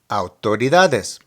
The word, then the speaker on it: autoridades: The more challenging pronunciation here will be autoridades. The AU can be pronounced like the OW in how, but just make it a little quicker. Au. The stress of the word is on the DA.